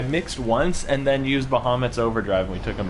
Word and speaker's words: Bahamut: That was a solid overkill by Bahamut. Yeah. Or Bahamut. Because that's Bahamut. apparently how it's supposed to be pronounced.